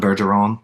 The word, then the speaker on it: Bergeron: you like the gnome your real name Berseron or Berson pronunciation is not good for my French Canadianness. Please correct me. Yeah. No, Beron like so it's Burggeron basically like Tom Beron the America's uh funniest song videos.